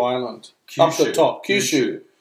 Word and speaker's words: Kyushu: Kyushu. Oh, why do I say Kyushu? Because you're trying to pronounce it like an Aussie.